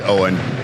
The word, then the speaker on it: Eoin: It's Owen. It's all right. Everybody calls me, but it's spelled Owen in Irish.